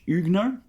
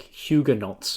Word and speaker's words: Huguenot: But a French Huguenot, that's how you pronounce that. I've always, like, it's spelt like Huguenots or something like that, right? And I've never known how to pronounce that. There you go. Huguenot. Yes, yes.